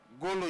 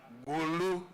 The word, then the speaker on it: Gulu: education and Humanities at goo University University I pronounced it wrongly for him he will call it Gulu University so George forgive me for pronouncing it wrongly I'm pronouncing it in a luganda way before he became the